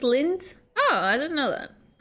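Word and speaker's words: Lindt: It's pronounced just lint.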